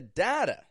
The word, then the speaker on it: data: the information we consume strong D in the beginning flap t on the end with a schah data data so what